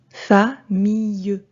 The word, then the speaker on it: famille: Famille. Quand je lis en marquant bien les syllabes, j'entends le E à la fin du mot.